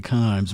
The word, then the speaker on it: Kimes: down yeah jay verzig mina kimes rhyme with dimes yes you got a